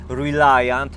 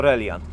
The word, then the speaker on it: Reliant: słowami Żeby nie było ja doskonale wiem że wymawia się reliant ale jesteśmy w Polsce i jest to reliant jeszcze się nie wywróci